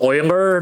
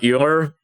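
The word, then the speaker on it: Euler: Then in theory that should uh that should actually uh this word I learned that is actually pronounced oiler not like it's something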